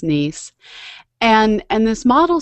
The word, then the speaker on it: Nice: called the nice model it's spelled like the word nice but it's pronounced like the city in France nice and and this model